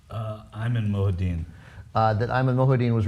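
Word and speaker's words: Ayman Mohyeldin: removal of the NBC reporter whose name is pronounced uh I'm in mudin uh that Iman mudin was removed from covering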